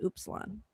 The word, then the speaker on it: Upsilon: blow from the Delta Upsilon. Is that how you say that? Delta Upsilon, actually. Upsilon. Okay. Yeah, but it's Epsilon out in the streets. But if you're saying the Greek alphabet, it's Upsilon.